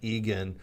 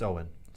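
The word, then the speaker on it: Eoghan: way with Robin Ryan the guy's name is Owen but it's spelled e-o-g-h-n or something like that and it just looks like Egan and Ryan's like is he you and Eagan eigen and and Rob like it's it's Owen does he help them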